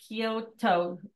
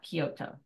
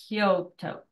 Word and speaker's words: Koto: kazuaki ceramic wear uh Koto not Kyoto Koto okay sorry again I